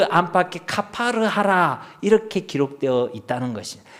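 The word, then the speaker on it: כָּפַר: 카파르. 그러니까 이 말씀을 보면요, 너는 코페르 나무로 너를 위하여 방주를 만들되 그 안에 칸들을 막고 코페르를 그 안팎에 카파르 하라, 이렇게 기록되어 있다는 것입니다.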